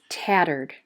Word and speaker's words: tattered: we hear er turd the reason why the e d is not a third syllable is because in this word the e d says a d sound in the category you'll